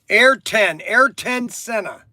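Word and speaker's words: Ayrton Senna: I uh Okay, so Kevin Tilman, it's pronounced air. Air10 air senna. Air10. Everybody's correcting me how I say it. Airtton senna. Air ton senna.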